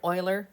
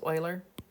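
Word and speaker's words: Euler: decimal this is Leonard Oiler it's pronounced Oiler name this number e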